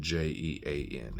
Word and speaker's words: Jean: And Jean is how Queen Jean pronounces their last name.